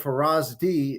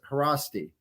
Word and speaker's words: Haraszti: z together is uh pronounced like just an S so instead of Faraz D it's harassi porosity yes and did